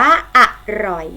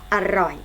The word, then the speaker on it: อร่อย: ทำ นี้ อ่าน ว่า อร่อย นะ คะ สังเกต พยางค์ ข้าง หน้า ออก เสียง อ่ะ อ่ะ พยางค์ ข้าง หลัง ออก เสียง เหมือน มี หอ หีบ มา นำ นะ คะ ขอ รอย อร่อย